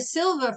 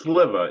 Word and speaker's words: Sliva: It's actually pronounced differently. How do you pronounce your last name? It's Sliva. It's Polish. If the I was first, it would make me Hispanic, and I am not.